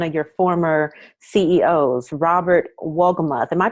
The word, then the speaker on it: Wolgemuth: well about one of your former CEOs, Robert Wolgemuth. Am I pronouncing that correctly? Yeah, Wolgemuth, uh-huh.